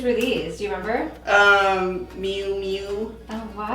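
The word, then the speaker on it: Miu Miu: Mew Mew. Oh wow. Is that how you say it? Mew. Mew Mew? Yeah.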